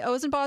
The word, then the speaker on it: Ozen: who actually told me ozen is pronounced with a long o thank you so much